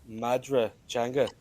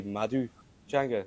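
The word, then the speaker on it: Madra Teanga: It's Madra Changa but I speak Oster Irish. So we would say Madu Changa.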